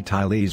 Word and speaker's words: Thales: for example by Aristotle we say tyes when we say his name accentuating the first syllable there could have been